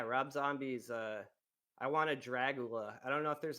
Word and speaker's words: Dragula: I hate to be that guy, but it is pronounced Dragula and not That's He he says Dragula.